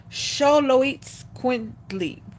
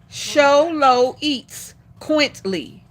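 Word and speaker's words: Xoloitzcuintli: It is pronounced. This is how it says. Hold on y'all. So y'all can see I ain't telling the story. Y'all see where it says pronounced at. All right. So it's pronounced sholo eats quintly.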